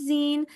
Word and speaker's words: zine: Okay, so I will just briefly go through it because we've talked about it, but a zine, pronounced zine, they're little self-publicated, shortly, closely circulated booklets that are usually for nonprofit.